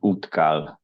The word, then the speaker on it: Útkall: And from Iceland, Elmar Gunnarsson from the organization called Útkall. Elmar, the floor is yours. Yeah, thank you. You can hear me? Thank you for super inspiring lecture so far. Perfect. Yeah, good pronunciation of Útkall.